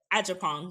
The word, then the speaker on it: Agyapong: Agyapong. You say it real quick so we have it. Good. Agyapong.